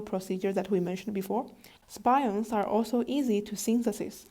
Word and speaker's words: SPIONS: It is abbreviated as SPIONS, which I pronounce as spions.